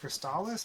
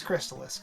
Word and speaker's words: Crystalis: you that it's pronounced cristalis because that's ridiculous or sorry ridiculous okay it's it's crystallis guys come on like like a chrysalis because Messiah is in